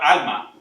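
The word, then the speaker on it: עלמה: Ahora, la palabra hebrea que se usó en Isaías 7:14 es la palabra alma, con H al final, alma. No puedo pronunciar la H al final, alma como J, que significa virgen, que no había tenido ninguna relación.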